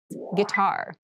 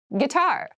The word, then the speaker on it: guitar: Guitar. Guitar. Guitar. This word has kind of an interesting spelling. It starts with G-U-I, but we pronounce this as gi.